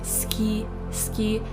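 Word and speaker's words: 好き: I know that we write suki but when we say it we say ski. It's as if the u the uh disappears.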